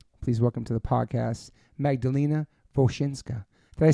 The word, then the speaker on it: Magdalena Wosinska: Please welcome to the podcast, Magdalena Wosinska.